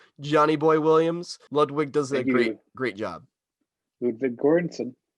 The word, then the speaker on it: Ludwig: soundtrack even though it's not johnny boy williams ludwig does it great job ludwig very good guy ludwig that that's the way to say it i've